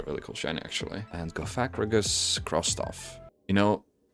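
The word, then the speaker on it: Cofagrigus: And Gacrigus crosstoff. You know, I just realized it's probably Kofagrigus. I think I've heard people pronounce it like that before. That's probably the the correct one.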